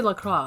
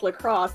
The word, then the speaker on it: Lacroix: Like, you would say LaCroix. Like, Amélie Lacroix is the name of Widowmaker. Pronounce it like lacrosse to annoy everyone.